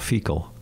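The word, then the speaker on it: Feakle: out of all towns is called fecal no it's yeah I swear to God f-e-c-a-l f e c but it's spelled differently yeah but it smells the same I've been there it's f-e-a-k-l-e in New Jersey has a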